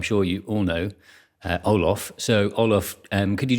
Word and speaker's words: Olof: to be pronounced uh but i pronounced myself as olaf ooloff okay and your preferred